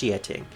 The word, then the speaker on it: Xiating: It's supposed to be pronounced Xiating.